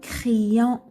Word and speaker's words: crayon: Après une voyelle, il remplace 2 fois la lettre I. Par exemple, un crayon. On entend 2 I. Un crayon. Crayon.